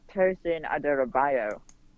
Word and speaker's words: Tosin Adarabioyo: Yeah, it's Tosin Adarabioyo. Or that, at least, if you break it down, that's how you say it. That's how you should say it.